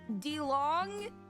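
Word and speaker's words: Dilong: D-I-L-O-N-G. It's pronounced DeLong.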